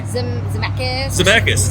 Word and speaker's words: Zemeckis: Zemeckis. Yes, Robert Zemeckis.